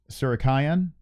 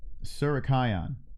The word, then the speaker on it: Tsarukyan: Tsarukyan is how you should pronounce it. Tsarukyan.